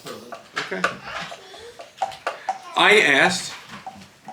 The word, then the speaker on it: Berlin: Oh, you were trying to learn rhyme with Berlin. Is it Berlin? No, it's Berlin.